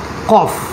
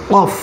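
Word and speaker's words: قاف: আমাদের ফায়ের উপরে একটা ফোঁটা ছিল, এখানে দুটো ফোঁটা দেয়া আছে, এর নাম হচ্ছে কফ, এর নাম কফ। কফ উচ্চারণ করতে হবে আল জিবের গোড়া থেকে, আল জিব অর্থাৎ ভিতরের জিব, এর গোড়া থেকে উচ্চারণ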